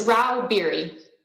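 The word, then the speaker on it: Rauh-Bieri: how do you say your name ma'am it's rao beary thank you uh miss stacy stags literal lobbyist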